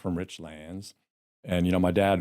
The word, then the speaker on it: Richlands: you're not from Richlands I said Richland that's right you pronounce it rich land Rich lands yes it's kind of like top Soul top cell right top soul is local top sale you're not from there which is EXA exactly opposite opposite in richs yeah why